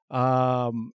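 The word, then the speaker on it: Schwenksville: It was Schwanksville, I believe.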